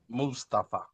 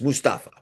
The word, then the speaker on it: Mustafa: What's the correct What What do you know about the correct pronunciation? Mustafa. It's Mustafa.